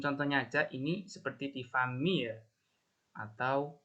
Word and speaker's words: famille: Cara bacanya untuk famille ya, itu famille. Famille. Ma famille, kadang E-nya itu nggak terlalu dibaca ya, ada native speaker yang E-nya itu nggak terlalu jelas.